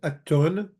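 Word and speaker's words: ܐܢܬܘܢ: You plural is atton for masculine and attin for feminine. Again, it's spelled anton and anten, but there's a batlana over the noon.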